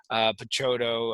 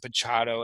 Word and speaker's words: Picciotto: not McKay and makai I mispronounced Picciotto I said Pichardo and listen I'm and